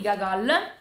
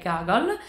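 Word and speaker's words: Гоголь: di Pietroburgo di gagol pronuncio con la A perché da quanto mi è stato spiegato nel libro di Paolo onori se ci sono due o la prima si legge a quindi è dasto Ski è tsto e gagle quindi spero di averlo pronunciato nel modo corretto comunque gacol È uno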